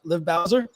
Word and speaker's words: Liv Bowser: Liv Bowser? That's how you pronounce that?